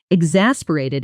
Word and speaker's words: exasperated: Exasperated is stressed on the second syllable, e-x-a-s-p-e-r-a-t-e-d. Try it slowly, e-x-a-s-p-e-r-a-t-e-d. Then at natural speed, exasperated, letting the middle syllable really pop.